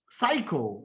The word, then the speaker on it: psycho: Psycho. Okay. Psycho means what? P-S-Y-C-H-O. Now this P is silent here.